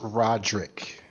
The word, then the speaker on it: Roderick: Well, Remember, it's pronounced Roderick when they sing.